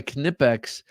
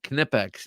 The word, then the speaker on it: Knipex: use for appliers now knipex I'm I'm assuming that they are uh German and I do know that you pronounce the k so that's what makes